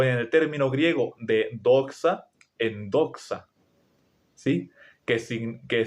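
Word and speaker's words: δόξα: La palabra la palabra gloria en griego es doxa, así se pronuncia.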